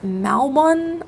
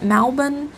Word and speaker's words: Malbon: It is Malbon, I think is how you pronounce it, Malbon.